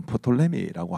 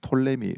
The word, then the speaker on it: 프톨레미: 하나는 이제 톨레미 왕족이라 해서 어떤 분들은 프톨레미라고 하기도 하는데 피가 묵음입니다. 그래서 톨레미 왕국이라고 하고요.